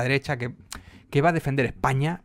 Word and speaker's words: España: la unidad de España España claro con acento en la primera O sea que es